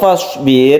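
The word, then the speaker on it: فاصبر: Nah, untuk fasbir ini hati-hati. Sukun ro yang sebelumnya ada kasroh, maka ro-nya ini dibaca tipis.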